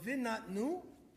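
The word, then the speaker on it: ונתנו: And there's some words that if you read it one way and you read it backwards, it's going to be pronounced the same, right? So vinatnu in Hebrew is one of those examples.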